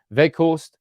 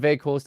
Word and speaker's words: Weghorst: In Dutch, you say it like Weghorst, but the G, of course, in England is a little bit difficult. So in my time at Burnley, it was also Weghorst, so that's okay. So I have now got